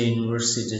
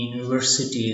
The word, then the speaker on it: university: honest man she's a university student where H is silent in honest so its transition is like - you in the university is pronounced like you here is not a